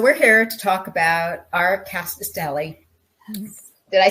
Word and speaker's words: Rkatsiteli: So we're here to talk about Rkatsiteli.